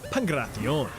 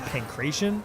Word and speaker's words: Pankration: Transitioning now from Greece to Greece, we have the downright brutal Pankration. What, you pronounced it pancration? You silly.